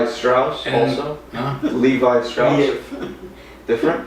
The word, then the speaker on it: Lev: Is that like Pronunciation Levi and- Strauss and- also? Huh? Levi Strauss?